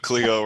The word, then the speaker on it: Coligo: who don't know um colleego is it collego or collegio am i pronouncing it it's whatever you want to call it but coligo works just fine so there you go